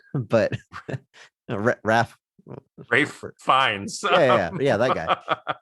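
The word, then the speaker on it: Fiennes: Reeves all the time maybe second to Ralph Phineas but Raph finds yeah yeah yeah that guy maybe he gets mispronounced more but the amount of times I've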